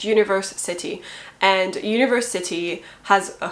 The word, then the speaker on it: Universe City: I'm trying to pronounce it the way it should be, which is Universe City, and I mean Universe City and not University, although it's a play on that word, obviously.